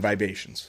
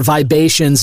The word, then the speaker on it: Vibations: And listener, Vibations is spelled Vibations, like the vibe Asian.